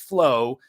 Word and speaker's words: FLOA: So FLOA, pronounced flow, stands for fasting like our ancestors.